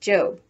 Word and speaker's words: Job: before going off to her job which in the bible is pronounced job remember that the one